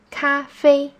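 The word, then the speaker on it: 咖啡: chinese is coffee coffee both parts of this word are in the first song hold your voice high and steady cafe as we know wa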